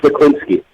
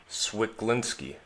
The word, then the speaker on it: Cwiklinski: pronounce your last name that's pronounced spiklinsky swiglinski okay yep right on